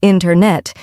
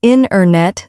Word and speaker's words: internet: We don't usually say internet. Instead, we say internet.